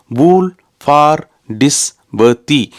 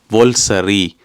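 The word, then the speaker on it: Woolfardisworthy: எழுத்தா கூட்டி கழிச்சு வாசிச்சா அது அப்படியே கிடையாது இதனுடைய உச்சரிப்பு வந்து இதுல எழுதப்பட்டிருக்கிற முறைக்கு ஒரு சம்பந்தமும் கிடையாது நீங்க நம்பவே மாட்டீங்கள் இதனுடைய உச்சரிப்பை நானே எழுதி வச்சிருக்கிறேன் வோல்சரி வோல்சரியாம் எங்கிருந்து இதிலிருந்து வல்சரி வந்தது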